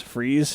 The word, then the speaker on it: Fries: Will Freeze, I don't know how you say his name. It's spelled like Fries. Fries. It's Will, Fries.